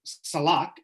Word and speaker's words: salak: And Salak is how you say it in Turkey.